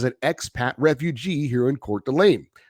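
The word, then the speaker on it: Coeur d'Alene: And he says, greetings from another lifelong Kings fan and everydayer as an expat refugee here in Court d'Alene. Like your other listener, kudos on pronouncing it correctly.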